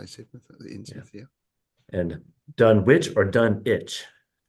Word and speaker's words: Innsmouth: Innsmouth. Innsmouth. Innsmouth. Yeah, because we have there's a town called Sidmouth down on the south coast.